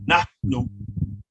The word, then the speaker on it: nahnu: which means she, nahnu, there's an aspirant H there, so you pronounce it nahnu, which means we, whom, which means they, and intim, which means you all or y'all, right?